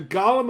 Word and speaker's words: golem: already did it yes the golem of hebrew literature is pronounced pretty much the same as the golem from the hobbit but this is not